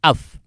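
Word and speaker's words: אב: Itu alef itu dengan bet kalau digambar, dijumlahkan jadi bacanya af.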